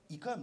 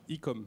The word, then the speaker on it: Ecom 33: Alors, juste quand même précision, on dit Ecom, c'est ça, ça va bien. Ecom.